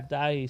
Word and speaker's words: Daithi: So and how do you spell it? Dahi, right? Is that how Dahi. to say? Yeah, Dahi.